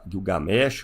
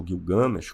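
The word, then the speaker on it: Gilgamesh: Se nós pegarmos os épicos mesesotâmicos, por exemplo, o famoso épico de Gu Gilgamesch ou Guil Gamesh, como queiram pronunciar aí, eh, ele nem título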